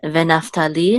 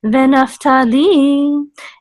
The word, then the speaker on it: Naphtali: Dan has mercha, so it's just Dan, and Naphtali has tipcha, so this is Naphtali, and God has mercha, so this is God, and this is Ve'asher has sof pasuk, so this is Ve'asher. Okay, so Dan Naphtali, God Ve'asher.